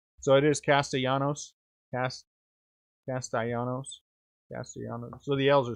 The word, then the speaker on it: Castellanos: do you say his last name is the castaianos or is it castellanos are the l silent 95 out of 99.